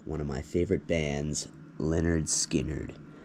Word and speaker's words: Lynyrd Skynyrd: grave sites to one of my favorite bands Leonard skinnard pronounced leard skin nerd it's the very first album pronounced Leonard skard